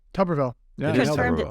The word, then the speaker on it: Tuberville: it tolerable I never say it right it's tuberville tuberville yeah I just turned it today I'm in